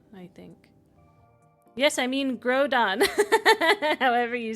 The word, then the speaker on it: Groudon: It's Groudon, like ground.